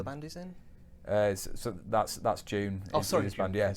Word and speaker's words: DVNE: Have you seen that band called June? But it's spelled like DVNE.